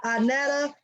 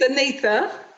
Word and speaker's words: Annetha: And her name is Annetta Jones. Am I pronouncing that right, Annetta? It's ANNETHA.